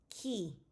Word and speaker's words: qui: Qu is pronounced like the K in kill. Qui, because remember, QU is K and I is E, so K-E, qui. R is rolled in the